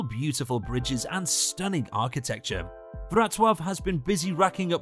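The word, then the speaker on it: Wrocław: and a museum of caricature number two varazov pronounced vratov vrtov is the fourth largest city in poland built in the medieval period the city covers several islands and maintains several beautiful bridges and stunning architecture vratwav has been busy racking up recognition lately in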